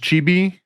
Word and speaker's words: chibi: This is what is it pronounced chibi?